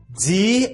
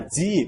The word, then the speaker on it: die: Die Anlage. E as letras I e no alemão, na palavrinha die, você não pronuncia die, você apenas estica a letra I.